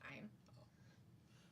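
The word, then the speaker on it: thyme: Isn't it called Tine? It's time. Oh, it's spelled T H Y M E, but it's just pronounced time.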